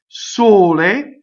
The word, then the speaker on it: sole: Sole, closed. O, closed E.